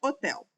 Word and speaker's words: hotel: Pensa só na palavra hotel. Quando você analisa a pronúncia desta palavra, vai observar que você não fala o H, você fala direto o som do O e as outras letras,